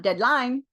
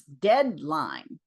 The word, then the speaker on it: deadline: 90% 90% 90% of our two syllable nouns are stressed on the first syllable. It's not deadline, it's deadline. L. So the pitch change la. And that stressed syllable, that first syllable is a fraction of a bit longer in duration than the second one.